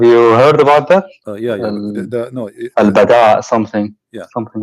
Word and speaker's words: البداء: You mean al-bada or al-bala? What? Sorry. I'm trying to understand what you are saying. Al-bala or al-bada? Well, bada. Al-bada. With dal, yes.